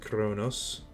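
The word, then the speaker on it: Qo'noS: I believe that their whole world is called Chronos at least it's spelled konos but it is pronounced Chronos capital first city on Kronos playing on Empire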